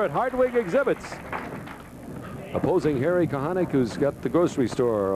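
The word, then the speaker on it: Kochanik: K-O-C-H-A-N-I-K, pronounced Kahanek. Right.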